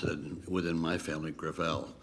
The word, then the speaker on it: Gravel: it within my family gravel gravel it's a French name thank you I want